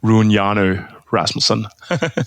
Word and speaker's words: Rune Hjarnø Rasmussen: My name is Rune Hjarnø Rasmussen. So okay. yeah, you mostly just pronounce my name in English because makes more sense like that.